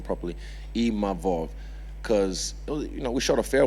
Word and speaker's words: Imavov: I learned how to say his name properly, Imavov, because, we shot a fair one, he beat me, and then, cool, we move on, I move forward to the next one.